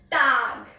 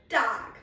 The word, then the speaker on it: Tag: open your mouth largely because A has a sound of A. That's why I'm saying Guten Tag. Guten Tag.